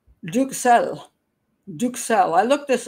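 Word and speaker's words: duxelles: lot of people say duck cells or duck cell um it's but it's originally a French pronunciation so it's I just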